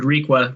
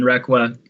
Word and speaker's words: Requa: So it's pretty hard to look at a building that has, and just for pronunciation, Richard Requa rather than Requa, Irving Gill, etc., on a resource that has the history associated with the community that this one does.